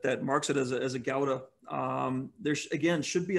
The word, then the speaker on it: gouda: have is is uh your gouda sure or gauda gauda or if you're uh good at pronunciation which i'm not uh from from across the ocean i think they say is that a howda that's how they would